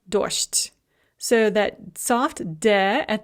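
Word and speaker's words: дождь: So dojd becomes dosht.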